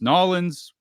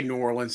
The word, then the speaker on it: New Orleans: New Orleans, New Orleans, Nolans. How do you pronounce it? We say New Orleans here.